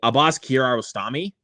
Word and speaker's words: Abbas Kiarostami: I remember to pronounce the filmmaker's name correctly. Abbas Kiarostami.